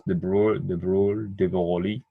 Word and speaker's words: de Broglie: His name is Louis de Broglie, and that's how I think you pronounce de Broglie.